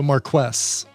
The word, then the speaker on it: Marquess: TRPW is saying you pronounce the Q, so Marquess.